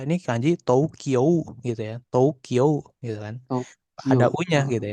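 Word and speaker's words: 東京: Jadi Tokyo Tokyo jadi bacanya tuh O-nya aja panjangin O dari yang di sito. O dari to sama O dari Kyo. Iya. Ko. Hm. Tokyo heeh ya. Tokyo gitu ya. Jadi U-nya tuh enggak usah jangan dibaca U-nya. Jadi bacanya O-nya aja, tapi O-nya panjangin.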